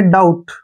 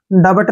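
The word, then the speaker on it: doubt: ना अब यहां पर टी से पहले फिर से बी आ गया तो बी का उच्चारण हमने नहीं करना है डी ओ यूटी ठीक है ना इसको हम पढ़ेंगे डाउट ड बट नहीं पढ़ना है डाउट ठीक है ना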